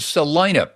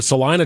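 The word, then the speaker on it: Celina: Zillow, you go to Salina, Texas, spelled with a C, not an S. You plop in Salena, Texas, little north of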